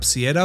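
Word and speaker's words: Ciara: छुट्टियां मनाने आया था अब कियारा के नाम की स्पेलिंग है सी आई ए आर ए तो इसे आप सिएरा भी कह सकते हैं बट मैं पूरी वीडियो में कियारा ही बोलूंगा हम समझ पाते हैं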